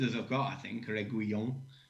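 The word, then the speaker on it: Reguilón: me on the pronunciation, Reguilon. Well, it's as good as I've got, I think, Reguilon. He's got the double L, so that's normally a Y sound.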